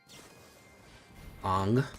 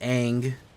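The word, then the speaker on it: Aang: Ang swift seavor. It's pronounced ang. By the way, I know a lot of you people will be like, "No, it's ang.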